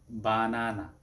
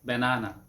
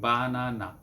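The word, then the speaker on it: 바나나: তো এটা কোরিয়ান ভাষায়ও বানানা, বানানা, almost English উচ্চারণই, almost.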